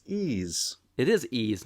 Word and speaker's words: Ys: It's ease. It's because of the Sega Master System kerfuffle. Because they put the apostrophe in it.